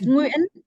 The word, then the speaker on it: Nguyen: How do you pronounce the last part of it? Yes, Nguyen. Nguyen is Nguyen.